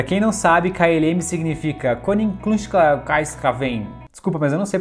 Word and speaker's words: Koninklijke Luchtvaartmaatschappij: Pra quem não sabe, KLM significa Koninklijke Luchtvaartmaatschappij. Desculpa, mas eu não sei pronunciar isso. Coloca a pronúncia certa. Koninklijke Luchtvaartmaatschappij.